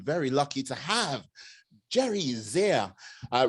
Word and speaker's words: Zehr: lucky to have jerry zia uh rhymes with dear and here yes he is a